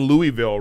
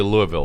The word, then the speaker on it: Louisville: uh I'm not staying Louisville right am I not saying it right well they may make you say Louisville but Louisville because somebody said you want your fans to come say it right and then comedy